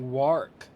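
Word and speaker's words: wahrk: Well, that looks like the shape of the wark.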